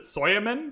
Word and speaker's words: Suleiman: We are playing as Suleiman today, or as Sean Bean in the announcer thing, he pronounces it Soyaman, so Suleiman, Soyaman.